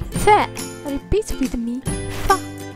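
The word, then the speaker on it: ف: Repeat with me, Fa. This letter is pronounced like English F as in far.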